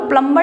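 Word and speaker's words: plumber: मैं बता रही हूं जिसे बोलते हैं ना की प्लंबर तो वो प्लंबर नहीं होता प्लंबर उसमें बी जो है वो साइलेंट होता है तो इसमें हमें क्या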